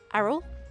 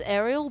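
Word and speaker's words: Aryll: call it errol's Lookout how do you pronounce her name Arrow Arrow that's how I pronounce it I literally when I first started playing this game I thought her name was Ariel but it didn't look right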